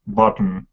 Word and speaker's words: bottom: And pronunciation thing, bottom. Do you really need to pronounce T? Or No. You can just Bottom. bottom. Bottom. It's a D.